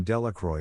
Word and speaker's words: Delacroix: and Harry Jones and Dicky delaqua the villagers pronounce this name delacroix eventually made a great